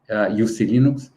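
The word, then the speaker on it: uClinux: or UC Linux, has how they say it's pronounced UC Linux.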